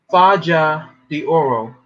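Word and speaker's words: Faja de Oro: do I pronounce that right say it again Faja the Oro spell it f a j a d e o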